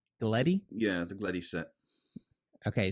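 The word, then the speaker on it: Gleti: Gleddy?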